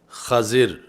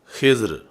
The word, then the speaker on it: خضر: سے مجھے بھی سکھائیں۔ تو یہ لفظ خضر فتح خا کے ساتھ اور کسرہ ضاد کے ساتھ، اور ایسے ہی خضر یعنی دوسرا اس کا تلفظ خضر ہے، خضر اور خضر، یہ آپ کا لقب